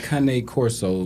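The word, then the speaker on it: Cane Corso: okay so I have a Kane Corso the correct pronunciation but a king Coro and he eats half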